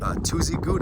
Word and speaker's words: Tuzigoot: um we're here at tuesday good i think it's pronounced two as you go t-z-i-g-o-o-t uh it's some